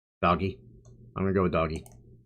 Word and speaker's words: Doge: I'm gonna go with doggy. Everyone pronounces it Doge, but it's pronounced doggy.